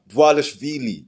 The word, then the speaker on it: Dvalishvili: Merab Dvalishvili. It's spelled DVA Shvili. But I finally learned how to pronounce Merab Dvalishvili.